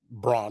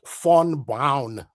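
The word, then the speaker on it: von Braun: It's nearly not pronounced Braun. That's an American pronunciation. It's pronounced fawn brown in German.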